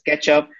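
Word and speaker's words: k3sup: alex uh he built uh k3sf which is pronounced as ketchup for so it's basically bootstrapping the k3s cluster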